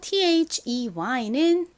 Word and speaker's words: they: 마지막 단어 T-H-E-Y는 발음과 의미가 뭔가요? TH는 the 소리 중 이 단어에서는 부드러운 the 소리로 쓰였고요. EY는 A 소리 나니까 they라고 발음합니다.